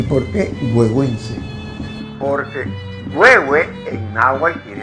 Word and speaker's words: Güegüence: ¿Y por qué huehuense? Porque huehue en náhuatl quiere decir viejo. Ahora, el huehuense es porque lleva una partícula, un sufijo que se escribe T, Z y N y se pronuncia C, huehuense.